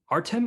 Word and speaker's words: Artem: the on the list it's spelled artiam but is artem and nissimov still a